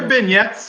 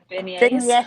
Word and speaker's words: beignets: Are there vignettes in? Is that what they're called, Jan? Beignets. Beignets. Yeah. No. The T is silent, Trace.